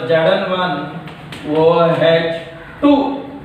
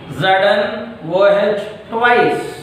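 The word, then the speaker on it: Zn(OH)2: Now it becomes Zn1 OH2. That is a wrong pronunciation. The correct pronunciation is ZnOH twice. ZnOH twice is the correct method of pronunciation. ZnOH twice. The wrong method is ZnOH2 is the wrong method.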